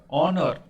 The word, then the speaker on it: honor: Next, he is dash honor, honor, honor, honor, honor to his profession, honor, and vowel से इसका sound शुरू हो रहा है, honor।